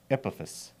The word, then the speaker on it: Epaphus: Epaphus.